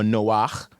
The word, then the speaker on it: Noach: So he orchestrated that a certain person we know as Noah or Noach in Hebrew and his family were